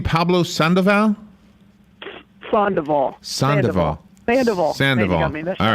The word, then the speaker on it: Sandoval: wrong so all right say it again like three people that know sandoval sandoval sandoval yeah don't read it just say it duval like duval county san diego okay uh